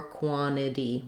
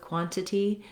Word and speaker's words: quantity: So you either have quantity with two true T's or quantity. One T drops, the other one becomes a flap. Let's try a few. First, we'll do a couple with quantity.